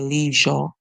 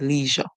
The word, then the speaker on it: leisure: you may not remember that the S is actually making a song like um Z and H together making the song okay